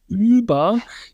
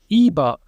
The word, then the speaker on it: über: So instead of saying things like über, people will now say iber, which is more or less the same vowel, except for it's not rounded.